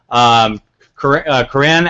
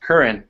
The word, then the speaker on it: Curran: Kanan out of, was it Dayton? Yeah, man. Dayton? And it's actually pronounced Curran. Curran, sorry, Curran.